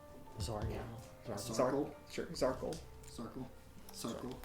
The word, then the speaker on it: Zarkal: I thought it was Sarkel. Zargat. Zarkle? Sure, Zarkle. Circle? Circle. Like a circle, but with a Z.